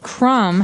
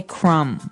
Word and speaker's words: crumb: everyone that the word crumb has a B on the end. C R U M B. But we don't pronounce the B. We just say crumb.